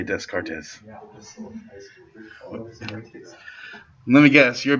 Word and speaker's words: Descartes: need a heart attack descartes is also a weird pronunciation for most people modern frenchmen would call him descartes which is correct fancy matthew will call him dakar because that's the old fashioned french word for it it's all the